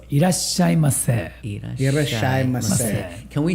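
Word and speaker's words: いらっしゃいませ: If you say mase, more polite. So irashai mase.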